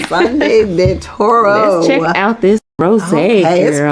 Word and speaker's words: Sangre de Toro: I can't roll R, so Sangre de Toro. That's it. That's how you say it.